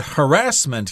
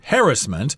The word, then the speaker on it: harassment: We've got the word harassment here. Sometimes it's pronounced harassment. I've heard that from English people mostly, but Americans pronounce this as harassment.